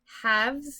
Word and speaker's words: halves: I have a cat halves you don't really pronounce that L so it's a weird